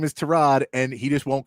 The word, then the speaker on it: Tyrod: said this week that Tyrod Taylor's name is Terrod.